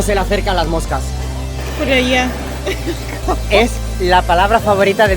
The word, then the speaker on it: joyería: Joyería. Es la palabra favorita de mi mujer. Joyería. ¿Cómo se dice? Joyería. No, joyería. Joyería. Casi.